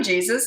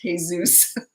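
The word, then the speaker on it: Jesús: So anyway, it was on Skype, and we turned up and I said, "Hi, Jesus, it's nice to meet you." And he said, "Thanks for that, but it's pronounced Jesus."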